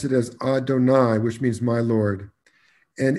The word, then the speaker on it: Adonai: is that the rabbis, in pronouncing that name, pronounce it as Adonai, which means my Lord.